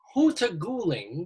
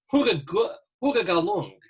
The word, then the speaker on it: Hutagalung: Joshua Hutagalung. David, don't say that. In fact, I say it wrong. It's Hutagalung.